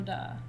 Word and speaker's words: de: uwe you experience something called da it sounds like d-u-h like no duh but it's spelled d-e okay d e can you say it with me duh duh like duck without the ck okay so when you're